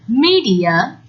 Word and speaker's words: media: the print media well notice that we say media not mere is they a long e sound media you can use